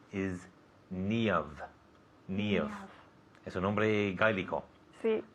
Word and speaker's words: Niamh: Niamh. Es un nombre gaélico. Sí. Ask me to spell it.